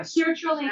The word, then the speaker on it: sertraline: how do you pronounce Sarah Trailer? Sarah. Sertraline That's is, what it it takes.